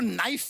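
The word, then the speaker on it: knife: जाए सलमान जी आपको नाइफ word मालूम है नाइफ उसमें शुरुआत में जो के होता है वो क्या है साइलेंट आप भी रहिए।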